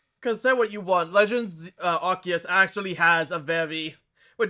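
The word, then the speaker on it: Arceus: I just like Arus as a sound. It sounds way better than Archus. It is. But Archus is how you pronounce that proper is the issue.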